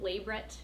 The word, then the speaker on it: labret: I used to have a vertical labret. Yeah, that's how it's pronounced. It's not labret, because it's not French.